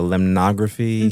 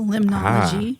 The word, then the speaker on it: limnology: So there's my tie-in with the limnography. There you go, limnology. Limnology. I forgot the word. Limnology.